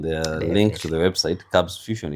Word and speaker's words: Kabss Fusion: Kabss Fusion is quite confusing. The number of S's, I think one of the S's is silent.